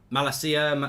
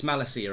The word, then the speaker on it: Malacia: we're calling that um from um malaysia not malakia says uh carl okay i've got his name wrong ma malacia malacia okay so it's malasia apparently tyrell malacia we'll go with that so tyrone malacia who